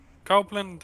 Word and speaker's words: Copeland: Copeland, am I saying it wrong, right? It's right? You're saying his name right.